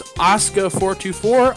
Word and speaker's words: Asuka424: Her name is Asuka424. I know that I pronounced that right because I asked her before the show.